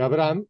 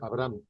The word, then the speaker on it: Abraham: y no es una la H no es muda la H se pronuncia como jota Entonces dijo Dios así no se llamará más tu nombre Abraham ahí sí dijo Abraham